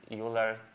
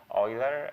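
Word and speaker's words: Euler: different name for that but Rafiel called it uler uh oil how do you pronounce oiler uler oiler uh for beam search where you where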